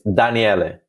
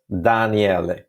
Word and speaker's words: Daniele: Here's a little Italian course for everybody. I'm Italian. It's Daniele. Guess the trick to pronounce it right? That's Daniele.